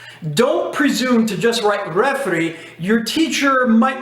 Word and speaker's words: refri: Instead of pronouncing all that, sometimes you can say refri. R-E-F-R-I.